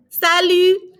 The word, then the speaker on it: salut: here we go bonjour Sally bonjour Sally notice we're not pronouncing the tea on Salute and there are going to be many words like that that you're not going to pronounce that last letter all right next after